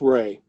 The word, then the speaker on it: Ray: That is, I don't know how you pronounce that last name. Yeah, I just, is it, yeah. It is Ray.